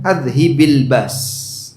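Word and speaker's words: أذهب البأس: Mungkin Anda pernah mendengar bacanya adhibil basa, tapi yang lebih tepat bacanya adhibil bas. Sehingga nanti ritmenya sama seperti rbanas. Allahumma rabbanas adhibil bas. Bukan adhibil b's. Walaupun kalau dibaca azhibil ba diperbolehkan, tapi cara baca yang lebih tepat azhibil bas.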